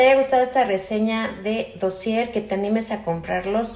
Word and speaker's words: Dossier: los perfumes de dossier que se pronuncia dossier ya que son unos perfumes franceses con sus instalaciones en